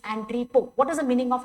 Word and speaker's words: entrepot: It is not entrepot. T is silent. It is entrepot.